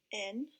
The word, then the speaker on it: night: N-I-G-H-T. This is the word night. The letters I, G, H together stand for the long I sound in night.